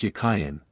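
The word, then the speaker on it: Jachin: of the two names the word Jain in Hebrew is Hebrew it was probably pronounced yayen and meant as a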